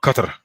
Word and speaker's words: Qatar: going to be in qatar by a qatar as they pronounce it by 2022 end of